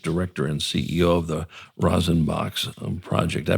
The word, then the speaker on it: Rosin: She is the artistic director and CEO of the Rosin Box um project. Did I pronounce that correctly? Yes, you did. Good. As in rosin, as in rosin bag.